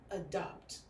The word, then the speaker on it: adopt: now also be careful the pronunciation of them a in almost all of these words ok we have the bad habit of thinking that every time we see this vowel it has to have the sound a no sometimes it has the Sun which is what we're seeing for instance in the word adopt a dog not a dog is a duck adopt and then this party's